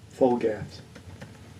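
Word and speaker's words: Flgath: didn't say it right so f l g a t h full gas okay and that was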